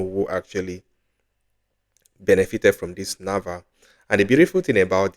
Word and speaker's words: NAWA: is actually pronounced as Nava you can see like Nava yeah because the Polish um W is actually sounded like V but anyway we are